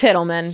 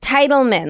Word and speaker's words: Titelman: my name is pronounced titlemen like the title of a book and a man okay and I've always said that it's not tittleman titlemen so Riley